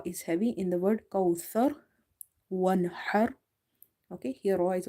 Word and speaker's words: كوثر: So avoid the seen pronunciation here. It's not kausar, it's kauthar, thar.